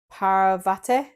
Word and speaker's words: Parvati: We have Parvati.